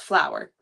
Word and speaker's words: Flower: And his name is spelt like F laugh but it's pronounced flower.